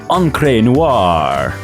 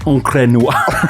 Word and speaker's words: Encre Noire: Because I think it's like French or something. It's like Encre. Oh, okay. No. It's like Encre Noire. But in East Texas, it's Encre Noire, baby.